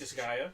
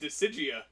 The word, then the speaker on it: Disgaea: How do you pronounce it? Collector's Disgaea? edition. Disgaea. Okay. How did you think it was pronounced? Decigia.